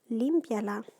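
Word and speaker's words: límpiala: Limpie, that's actually just 2 syllables, because notice that weak I and that strong E together are going to make 1 syllable. So the accent needs to go on the I.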